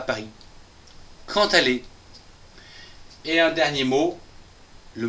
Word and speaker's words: quand allez: Attention, ici c'est un D et un A qui va se prononcer ta.